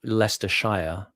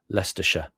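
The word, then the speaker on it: Leicestershire: So instead of Lester Shia, Lester Sha, you know, you deprecate the Shia bit.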